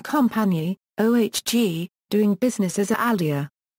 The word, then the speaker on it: Aldi: ALDI Einkauf GmbH and Compagnie, OHG, doing business as Aldi. German pronunciation, Aldi, short for Albrecht Discount, is a global discount supermarket chain based in Germany.